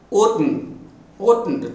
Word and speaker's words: oughtn't: Ought, int, oughtn't, two syllables, oughtn't.